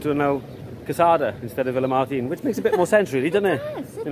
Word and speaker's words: Villamartin: But we have come to the now world famous Villamartin Plaza. Or Villamartin, if you want to say it properly.